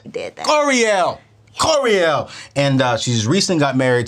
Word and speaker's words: Koreeyell: And her name is Koreeyell. Did I say it right? You said it right. I said it right. You did that. Koreeyell.